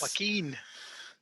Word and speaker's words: Joaquin: Joaquin. The J is silent.